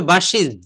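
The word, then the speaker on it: buses: কিন্তু এক্সাক্ট, তো আমরা কিন্তু এই ভুলটা বলতে বলতে এটাই আমাদের কাছে সঠিক, মানে আমরা বাসেস বলি, কিন্তু বাসেস হবে না, এটা হবে বাসিজ, বাসিজ, বাসগুলা।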